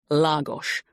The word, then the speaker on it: Lagos: So, it's the main square in Lagos, spelt Lagos, but pronounced Lagos, on the Algarve.